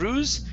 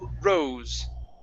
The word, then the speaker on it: rose: The name here, instead of ruse, it's rose. Rose.